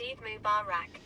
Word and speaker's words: Eid Mubarak: Rab says, "Lao, it's pronounced Eid Mubarak." Eid Mack Y.